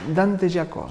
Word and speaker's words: Giacosa: pronuncia? Dante Giacosa.